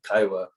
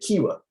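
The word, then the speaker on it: Kiowa: uh man and she she pronounced my my tribe my kin tribe kaiwa uh she said kiwa and i had to i kinda like my i twitched a little bit i was like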